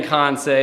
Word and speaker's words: Kansei: So, but no, it's always been Kansei. It's a Japanese word. That is how it is spelled. There is a part of Japan called Kansei with an AI.